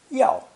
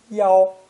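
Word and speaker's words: 要: This character is pronounced fourth tone, yao, yao, or sometimes first tone, yao, yao, with a slight change in meaning.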